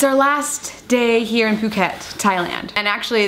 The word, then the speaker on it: Phuket: It's our last day here in Phuket, Thailand. And actually, that's how you say it, Phuket, not Phuket. Spelled P-H-U-K-E-T, but pretty sure it's Phuket.